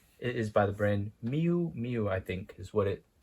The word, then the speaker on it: Miu Miu: It is by the brand Miu Miu, I think is what it pronounced.